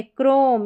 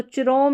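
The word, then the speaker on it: chrome: को क्र जैसे कि ये है क्रोम इसको चोम नहीं पढ़ देंगे कि सी एच को पढ़ दिया च नहीं गलत हो जाएगा इसको पढ़ेंगे क्राइस्ट।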